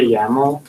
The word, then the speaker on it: YAML: is what your like it's called a yaml rhymes with camel uh had a header